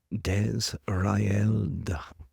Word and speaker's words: Desraeld: But he is correct that I am Desraeld. And if you were to break this phonetically, Desrael and this is an